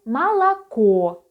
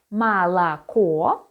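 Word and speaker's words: молоко: it is or but when it is not stressed it is pronounced as a for example malacco the last letter or is stressed and we read it as or but malacca so milk so you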